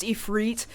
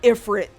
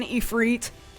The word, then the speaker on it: Ifrit: to reteach myself like I've always known it should be pronounced efreet but it's really hard when you've just sort of casually been saying Ifrit like your whole life